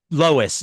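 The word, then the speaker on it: LOESS: Lois. Yeah, that's pronounced Lois.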